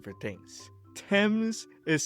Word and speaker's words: Thames: Thames is spelled Thames. Why is it not Thames?